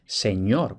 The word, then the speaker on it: señor: cuenta de que por lo general la doble n lo que representa es el sonido ñ Como por ejemplo en esta misma diapositiva señor que está escrito seor con dos nes pero esto se pronunciaba ya señor entonces aquí por qué